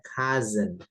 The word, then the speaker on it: cousin: Nah, ini tulisannya chosen, tapi bacanya cousin. Cousin. Cousin, jadi S-nya jadi Z gitu ya.